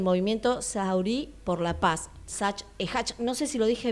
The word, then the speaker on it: Hach Ahmed: Haj, no sé si lo dije bien. Sí. Más o menos, más sí. o menos. No seas cordial conmigo, más o menos. ¿Cómo se pronuncia bien? Haj Ahmed.